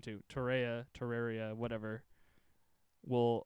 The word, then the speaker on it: Torreira: Torreira, whatever. Will It's like Pereira, but Torreira with a T.